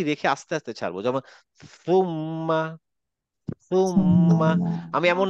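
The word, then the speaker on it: ثم: সুম্মা আমরা অনেক শুনছি এটা না সুম্মা আসলে সুম্মা না এটা হবে হচ্ছে সুম্মা অনেকটা বাংলা থ এর মত বাকিরা আমার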